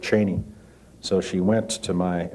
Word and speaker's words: Cheney: Ford White House that he had pronounced his name cheni but when President Ford called him Cheney he said well if president if the president says that's my name it's Cheney and it has been ever since is this true